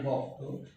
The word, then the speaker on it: ব্যক্ত: বা এখানে বক্ত হয়েছেও বলা যায়, যেটাকে আমরা ব্যক্ত উচ্চারণ করি, আসলে বক্ত।